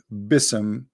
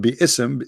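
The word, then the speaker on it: بسم: Yet Allah he do not know how to pronounce the word Bism. The word Bi-ism became Bism. In Arabic, we don't have bism, we have bi'ism.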